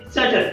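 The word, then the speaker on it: subtle: आता बघा की याच्यामध्ये टीच्या आधी बी आलेला आहे म्हणून बी साइलेंट आहे.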